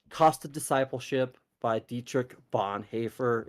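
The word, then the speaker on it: Bonhoeffer: important and that's cost of discipleship by Dietrich Bon haer it's spelled b o n h o e f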